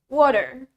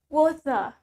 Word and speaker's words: water: Next, the word water. Well, in British, we say it water, water, water. While in American English, we say it water, water. Pakai D, water. Okay, water or water means air.